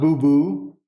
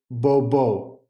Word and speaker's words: bobo: they'll say Bo and so it's not boo boo it's Bobo so if you're out